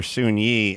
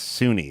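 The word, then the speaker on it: Soon-Yi: Everyone calls her Soon Yi. I mean, the press does because it's Y-I, but it's Suni is how they say it.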